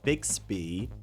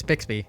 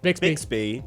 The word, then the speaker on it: Bixby: And we'll also round out with uh Big Speed. Did I pronounce that right? All right. Yeah, it's Bixby. Bixby.